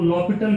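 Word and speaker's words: L'Hôpital: By using L हॉस्पिटल, इसको लॉपिटल कहते हैं ना, एच यहाँ पे साइलेंट होता है, तो यहाँ पे लॉपिटल रूल जो है ना वो हम लगा सकते हैं।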